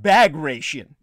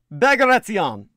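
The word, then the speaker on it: Bagration: pronounced diet rich well most people would look at that name and they would think it was pronounced bag ration as in a bag of rations don't ever pronounce it that way bagaration or the battle of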